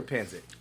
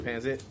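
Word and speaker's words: pancit: is it an ounce it's pronounced panzit Filipinos say panzit or fonsi oh God I think it pains it pays it pansit what do you say I think it depends on where you're from uh America well I'm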